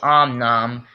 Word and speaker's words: Om Nom: series based off of Angry Birds characters he pronounced him wrong om n it's actually Om Nom and it doesn't really matter anyway since he's